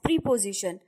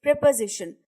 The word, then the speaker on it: preposition: The word preposition is pronounced incorrectly as preposition by many people. The correct pronunciation of the word is preposition. The stress is on pa and not on pre.